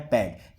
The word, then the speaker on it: bade: आप उसे बोलते हैं बिड। ठीक है, और सेकंड फॉर्म उसकी होती है बैड। यहाँ पर इसका प्रोनाउंसिएशन होगा बैड, BADE। आप यहाँ पर बड़े नहीं बोलेंगे, आप बोलेंगे बैड।